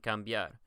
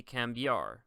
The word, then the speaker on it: cambiar: It's the same exact concept with estudiar and cambiar. When you pronounce these words, remember that it's not estudiar. It's going to be estudiar, diar. This D-I-A-R is almost like one sound.